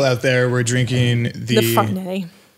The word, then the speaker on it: Farniente: I mean, I guess I would say that like Neon, but like if you pronounce the T, it'd be like Niente. Yeah. Which is like Spanish.